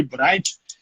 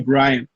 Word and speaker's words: Braynt: eu chamo ele de Braynt, porque coisa de irmão. Se fosse pela pronúncia certa do nome dele, seria Brian. Mas eu chamo ele de Braynt, então, pela proximidade que